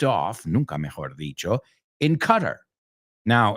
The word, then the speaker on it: Qatar: So realmente oí por primera vez cómo se pronuncia esto en español. Qatar, right? But in English, it's Qatar. Qatar.